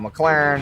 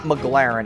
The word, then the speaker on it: McLaren: times in a row it's not McLaren it's m Claren okay so that's how